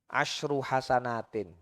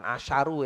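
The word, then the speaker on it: عشر حسنات: huruf yang anda baca asru hasanatin bukan asaru ya bacanya asru asru hasanatin Harfin taqu artinya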